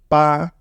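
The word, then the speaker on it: 八: then when you together will be ba with first tone ba that's how we pronounce this character B which mean eight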